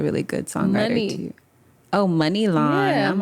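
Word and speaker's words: Muni Long: I say I always pronounced it Mooney Long. Money. It's money long.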